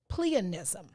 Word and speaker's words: pleonasm: You pronounce the word pleonism. Pleonism. And it means the use of more words than are necessary to convey meaning.